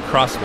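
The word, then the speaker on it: X-Bow: a crossbow KTM crossbow it's spelled X by the way but pronounce it crossbow I believe this guy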